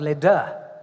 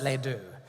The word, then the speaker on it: Les Deux: Lindsay and I met in a club called Les Deux, spelled like the French do. But the Americans pronounce it Les Deux.